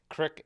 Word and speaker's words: crick: Crick is the correct Ohio pronunciation, and it's down in a holler.